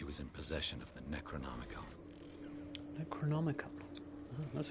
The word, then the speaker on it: Necronomicon: Hawkins never told me why she was in possession of the Necronomicon. Necronomicon. Oh, that's how you're supposed to pronounce it.